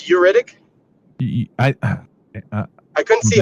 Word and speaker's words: Ugaritic: I thought he said oric, but it's uritic. I I couldn't see how it was spelled because he just pronounced it. Yeah. Uh I think it's called yugaritic.